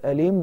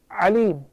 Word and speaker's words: أليم: So عذابٌ أليم, the word أليم describes the torment. It's very painful. But عليم, what has happened? The only letter that I change is the hamza. I mispronounced it. I said عليم instead of أليم.